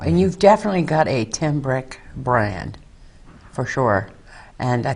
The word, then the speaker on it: Tim Brick: on stage somewhere and they announced me as a was at the Tom brick band it's an easy last name you know yeah that's what I always think too you know I mean in my name my whole name is two syllables long but average quite frequently